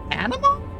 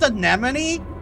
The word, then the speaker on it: Anamon: Anamon. Animon. It's not pronounced Anemone.